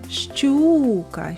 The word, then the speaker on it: щука: визначимо куди падає наголос покличемо щука щука сила голосу більше падає на звук у А це і означає